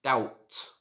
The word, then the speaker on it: doubt: word is the word doubt the b in this word is silent as well so it shouldn't be doubt should just be doubt for example i doubt that i have many debts number 14.